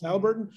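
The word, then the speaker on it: Haliburton: Like Halliburton, I mean, is it Halliburton or Hiliburton? I don't know how to pronounce Halliburton, it. It's Halliburton.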